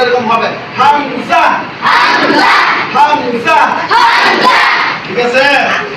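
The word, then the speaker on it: همزة: আমরা বলি না দুইজা এরকম বলি না এই উচ্চারণটা এরকম হবে হামজা হামজা হামজা হামজা ঠিক আছে ইনশাআল্লাহ ইনশাআল্লাহ এরপরে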